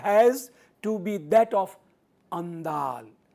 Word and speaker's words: Andal: One of the loveliest depictions of Panchajanya has to be that of Andal, pronounced Andal, the 9th century Vaishnava mystic, जिन 9वीं शताब्दी में जो वैष्णव रहस्यवादी संत हुए हैं जिनका नाम आंदाल है।